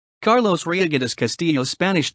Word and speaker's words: Reygadas: Carlos ryoga's Castillo Spanish pronunciation Kalos Ria's born October 10th 1971 is a Mexican filmmaker